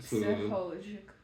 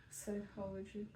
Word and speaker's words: psychological: Singing, games, movies, entertainment Psychological. Psychological. Psychological. Psychological. Psychological. I know it's it's it's like you definitely don't Okay. It's not pronounced the same way it's written and it's hard to